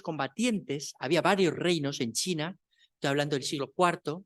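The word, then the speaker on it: Qin: final uno de esos el reino chin se escribe con q se dice con con che el reino chin eh tomó para Sí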